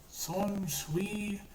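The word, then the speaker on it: Shunsui: Shin, oh god, I'm forgetting, how do you pronounce his name? Son Shui, yeah, Son Shui, he's the captain who wears the flower komodo, the pink flower komodo, and he has two swords.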